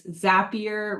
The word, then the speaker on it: Zapier: It's Zapier rhymes with happier.